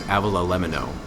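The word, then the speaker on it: avgolemono: So think like, no, I was saying it wrong. It's Avila lemino.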